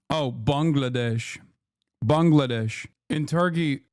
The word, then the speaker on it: Bangladesh: Bangladesh. In Turkey. In Turkey, we say Bengalesh.